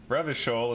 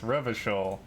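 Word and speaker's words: Revachol: classier is pronounced clausier ravishole is pronounced revocal that's good it's good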